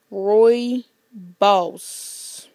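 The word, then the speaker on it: rooibos: so yeah okay now to tell you how I know that um the how it's pronounced is right here okay right there Roy boss so you guys see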